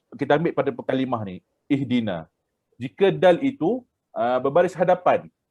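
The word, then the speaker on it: اهدنا: Uhduna. Tapi tiada perkataan uhduna sebab dari segi kaedah betul dah. Kalau jika dal itu baris hadapan tapi di sini dal berbaris bawah. Kasrah iaitu bawah. Jadi ihdina.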